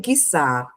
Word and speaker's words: quiçá: O termo quiçá é acentuado porque a tonicidade recai na última sílaba. Exatamente, é um oxítono.